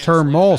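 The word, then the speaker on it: Termel: exactly what that is term ol sledge rhymes with thermal thermal you know his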